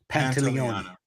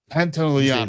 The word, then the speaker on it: Pantoliano: His last name is I can never pronounce it. Pantoliano. Pantoliano.